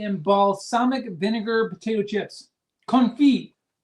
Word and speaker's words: confit: Confit, pronounced confit.